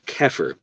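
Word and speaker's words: Xeper: philosophy uh into this idea of what's called kefir which is pronounced with a but it's it's written x-e-p-e-r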